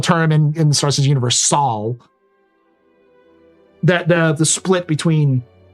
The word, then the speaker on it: Sol: It's not soul, it's Saul.